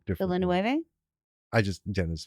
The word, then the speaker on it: Villeneuve: Now, whether you've seen the 1984 version of Dune or Dennis V's, I've heard people keep pronouncing his name differently. Villeneuve?